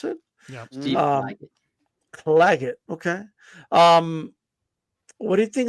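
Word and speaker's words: Claggett: So Clagget, is that how you pronounce it? Yeah. Clagget.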